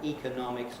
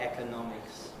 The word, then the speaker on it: economics: of those strange things we can either have economics or economics and i think it goes for most of the related words as well i just chose economical